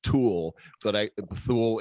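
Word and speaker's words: Thule: how you pronounce it it's t-h-u-l-e and somebody told me it's pronounced tool but i fool it's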